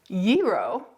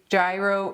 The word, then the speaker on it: gyro: and it is pronounced Euro Euro if if you're in Greece but in North America we do tend to say gyro or jro okay so